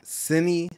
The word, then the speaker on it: Sini: You are Sini Thanthanka. Mm. Is that how you pronounce it?